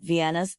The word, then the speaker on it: Vienna: Additionally, note that Vienna's English pronunciation is Vienna, emphasizing the V sound at the beginning, not WT to achieve.